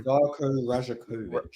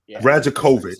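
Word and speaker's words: Rajaković: his name one more time Mo I'm sorry rajakovic rajakovic so so so we're we're at those two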